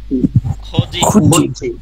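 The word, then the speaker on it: 거짓이: খোজি। কেন খোজি হইছে? এই যে দ্বিগুতের পরে ইয়ং আর ই আসছে, এজন্য দ্বিগুতের উচ্চারণটা জ হবে, খোজি।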